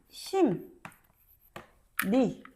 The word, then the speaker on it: 심리: 니은으로 바뀐다고 이야기했지. 그래서 심 니 궁 리로 발음이 됩니다.